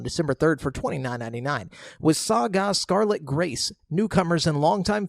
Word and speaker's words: SaGa: Then we got Saga, and I say it like that because it's Saga spelt with capital S, lowercase a, uppercase G, lowercase a. So like Saga.